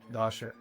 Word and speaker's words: Dossche: Dasha. Dasha. Okay, it's a hard bone. Can you spell it for me?